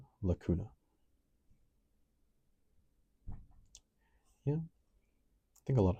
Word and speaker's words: lacuna: Cradle, pronounced lacuna.